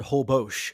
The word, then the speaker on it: Holbox: Um, hobbos. Hobbos, is that what you say? They pronounce it Hobos.